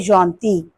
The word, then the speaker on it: gentille: In written English, spelling will be different, but the pronunciation will be same. You can say il est gentil, elle est gentille.